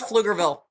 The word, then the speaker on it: Pflugerville: No, I think she means Pflugerville. Pflugerville. I butchered it.